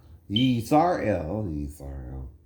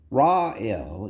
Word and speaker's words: Yisrael: Yisrael. Now it ain't Ra-El either. In other words, right? That's more Egyptian pronunciation, right? Because of Ra, the sun god, right?